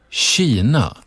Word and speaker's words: Kina: In certain Swedish words, the K and the I are pronounced as she.